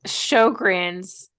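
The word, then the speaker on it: Sjögren's: So Sjogren's, for those of you who are wondering how it's spelled, because before this, I only knew how to say it because I asked Kara.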